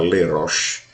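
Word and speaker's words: לראש: rocha cabeça no hebraico quando ela tem a preposição ler no hebraico fica leroche que é é por cabeça leroche e ela tá junto com a preposição por então automaticamente tem uma uma pronúncia diferente no texto original e Deuteronômio Ela tá leroche ou seja por cabeça mas Roche em si só é cabeça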